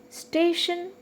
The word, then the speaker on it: station: at the word station don't confuse it station has two syllables station okay station so uh automatically the second syllable is stay so that's why we are marking stress on stay then potential for 10